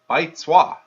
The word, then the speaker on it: Baizuo: I looked up what's a Baizuo, and so I looked up Baizuo, pronounced Baizuo.